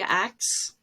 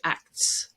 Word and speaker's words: acts: not just text okay act if you put that in she acts you may very well drop the t you don't have to and many people would say she acts but it takes more